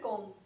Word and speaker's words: comb: the hair comb. People often pronounce the B at the end, so it's comb.